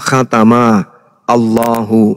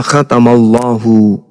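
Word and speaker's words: ختم الله: Nah, di Al-Qur'an misalnya khatamallahu ini kalau dipisah cara bacanya adalah khatama Allahu. Itu kalau dipenggal. Tapi kaidah membacanya disebut kemudian makhraj dan nahwu sarafnya. Cara membacanya khatamallahu.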